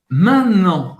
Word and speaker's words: maintenant: E o que é interessante é que ele falou maintenant. Ele não falou maintenant. Não dá para ouvir o T aqui.